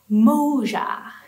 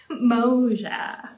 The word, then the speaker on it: moja: And in Swahili, one is pronounced Moja, Moja.